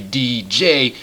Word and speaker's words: Deej: I have called him Deege and then people said I was saying his name wrong. And it's actually DJ and then I was like, "Okay, okay.